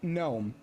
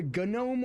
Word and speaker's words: gnome: It's spelled with a G. Where is the G? Like it's at the beginning, right? Okay. When you pronounce it, do you pronounce a gnome or do you pronounce it gnome?